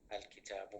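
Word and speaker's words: الكتاب: So when I mentioned al-kitabu, I pronounce this lam, and I put a sukun on top of it.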